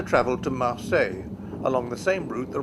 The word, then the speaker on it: Marseille: me results without cease 19th century English speakers would have spelled and pronounced the town's name with an S on the end Marseilles if the S ever